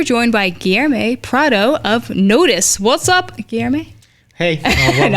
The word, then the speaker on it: Notiz: So it's called Notiz, but it's spelled like Notiz. I was saying Notiz, but it's Notiz.